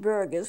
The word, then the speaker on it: Buerger: restaurant this is bu ERG ers burgers it's pronounced burgers bu ERG ers and it's caused by smoking